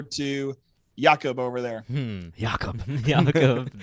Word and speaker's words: Jakob: Jakob. Sounds like we're hawking up some loogies. Jakob. The Hebrew. I believe that is the appropriate Hebrew pronunciation.